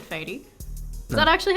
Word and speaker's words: Faydee: They would say fatty, fatty, farty, farty. Really? Farty? Farty, because in Turkish it's farty. It's a Really? different, Yeah. yeah. But you know, it's not pronounced that way, right?